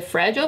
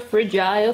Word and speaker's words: fragile: de coisas frágeis né em inglês tem duas pronúncias você pode dizer fragile things or fragile things e é isso aí